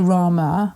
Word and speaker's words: Rama: When we say Rama, or when I say it, I don't pronounce my R, that he rolled his R, it was a really long grrr, and he said that is meant to be fierce, and the armour is mother.